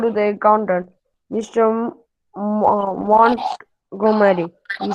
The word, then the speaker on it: Montgomery: It is Montgomery. T is silent.